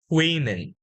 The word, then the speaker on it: women: one one woman yes but in this case we would not pronounce woman again we would say women women yes okay now say it again woman woman women women women it's also e men women that's much better and this word can